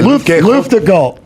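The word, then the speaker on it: Luftgekühlt: How do you pronounce it? Luft Gul.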